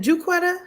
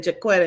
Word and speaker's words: Juquetta: Is it Juquetta? Yep. Because she keeps telling me I'm pronouncing your name wrong because I keep saying Jaquetta and she's like, it's Juquetta.